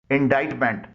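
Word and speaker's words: indictment: नहीं निकल रही है इनडाइन मेंट इसकी स्पेलिंग है आई एन डी आई सी टी एम ई एन टी इसमें भी सी खामोश है क्रिसेंट सी आर ई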